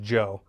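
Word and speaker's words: DJO: of beginning his name is D Joe it's pronounced Joe but it's DJ o that sounds dumb any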